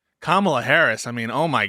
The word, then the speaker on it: Kamala: Kamala Harris. I mean, oh my God, that's I know the K is hard. So that's you even said it wrong. It's Kamala.